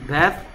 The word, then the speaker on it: bath: bath, bathe. 됐습니까? th의 발음이 얘는 번데기 발음입니다. bath. 얘는 똑같이 혀를 무는데 z 발음입니다. bathe.